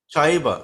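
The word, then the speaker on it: चैव: Chaiva.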